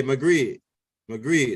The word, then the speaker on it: Maghreb: Yeah, Maghreb, that's how you say it.